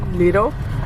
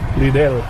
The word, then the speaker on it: Lidl: Is that how you pronounce it? Lido? Lidl.